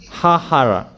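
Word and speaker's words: haharah: So there are double H successively.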